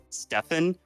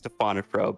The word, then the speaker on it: Stephanafro: mispronounce it at first Yeah. as Stefan when Right. actually it's Stephanafro.